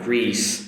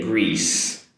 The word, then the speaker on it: Greece: Okay everyone, um and speaking of Greece, let's say Greece Greece. Notice the “sss” sound at the end, not the “sh” sound.